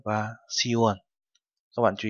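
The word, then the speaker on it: 시월: và tháng 10 thì đổi thành Yuon và Siwon. Các bạn chú ý, không phải là Yukwon mà là Yuon. Sipwon không phải là Sipwon đâu ạ, mà là Siwon.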